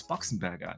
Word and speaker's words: Boxenberger: So, and yeah, to answer your question, it's Boxenberger. Yeah, there you go. Mr. Boomstick himself. Yeah, I blame him. He kind of pronounced it always like a box a bear.